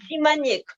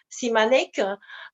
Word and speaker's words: Simaniec: En biélorusien, c'est Chimanets. En français, c'est Simaniec. Voilà. Simaniec. Parce que tout de suite, j'avais traduit comme Simanek. On m'a dit que non, en biélorusse, c'est Chimanets.